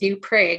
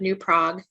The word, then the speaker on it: New Prague: anyone not familiar with the area it is pronounced new prague instead of new prague and it is baffling the map shows him